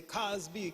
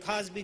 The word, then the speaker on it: Cosby: If were not for time, since Cosby rhymes with Ali, we would say Cosby, Cosby, but time doesn't permit.